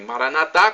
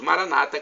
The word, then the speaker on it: Maranata: como dizem os Evangelhos os católicos dizem Maranata com a tônica na última sílabas do evangélicos Maranata com a tônica na penúltima sílaba não importa somos todos